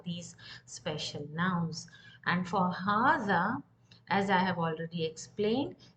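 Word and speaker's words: هذا: And for hadha, as I have already explained, it's written with ha, the and alif, but there is no long vowel after the ha, but it's still pronounced at hadha, as if ha alif and the alif, as if there is a long vowel in between.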